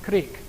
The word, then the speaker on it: Krieg: blitzkrieg means lightning war Krieg means war actually pronounced creek ends with a Jesus